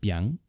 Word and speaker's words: biáng: It is pronounced biáng, and it represents the biáng noodles from Shaanxi province.